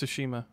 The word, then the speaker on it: Tsushima: Isn't it pronounced Tsushima? Is it? Right? I think Tsushima. It's Tsushima. Sashimi.